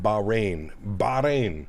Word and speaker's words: Bahrain: It's pronounced Bahrain.